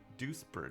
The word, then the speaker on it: Duisburg: about sorry but that deuce douche Burt do Duisburg do spurt is the pronunciation all right so the